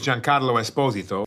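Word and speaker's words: Giancarlo Esposito: not nearly as much as trying to correctly pronounce the name of actor Jin Carlo Esposito hello my name is Jan Carlo Esposito the voice cast also includes Bill n Katherine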